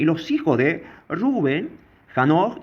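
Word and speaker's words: רְאוּבֵן: Bueno, acá, ahí, por ejemplo, está en hebreo, para aquellos que quieran pronunciar Reuben, ¿sí? Reuben, porque esta es una fonética del hebreo y tranquilamente podemos nombrarlo como está escrito.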